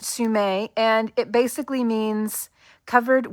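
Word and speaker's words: semé: I did look this up, and it is pronounced Sume. This doesn't have the accent over the E, but I think it's meant to. And I'm going to show you on screen.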